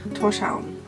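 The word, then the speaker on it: Tórshavn: but I was like, how do you pronounce it? And he's like, Torshavn.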